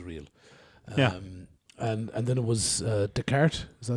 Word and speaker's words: Descartes: And then it was Descartes, is that how you say his name? Descartes, yeah.